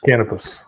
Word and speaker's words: Canopus: I'll just play the video, but it's called how do you pronounce that? Canopus? Is that a star? Canopus.